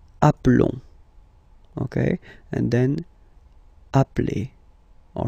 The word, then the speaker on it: appelons: Okay, final S doesn't exist. Nous nous appelons.